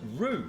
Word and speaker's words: Whroo: So, the name is pronounced rue and is thought to be derived from an Aboriginal word meaning lips.